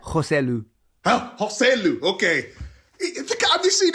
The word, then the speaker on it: Joselu: it just played into Real Madrid's hands and hosu is that how you pronouncing Gary hosu is that right joselu hu okay have you seen his career please